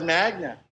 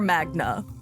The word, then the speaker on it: Magda: How's Magda? I cannot believe that he does not know how to pronounce his girlfriend's name, so much so that all of his friends are calling her Magna.